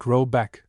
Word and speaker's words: Rabeck: The manor house, or hergård, in question is to be called Rabeck, pronounced something like Robeck, though that is not its name.